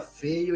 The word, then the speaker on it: Feyo: interessante né quer dizer meu sobrenome pessoal é feio f e y o é feio mesmo se pronuncia feio e tal então assim